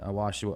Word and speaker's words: ayahuasca: When you talk about the DMT experiences, I've spoken with several people that have had DMT and ayahuasca, or how do you pronounce that?